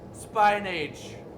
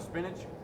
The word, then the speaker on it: spinach: the text of speech pronounces it spine age instead of spinach my ex used to